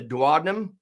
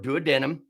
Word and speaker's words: duodenum: You have the duodenum or duodenum, pronounced either way.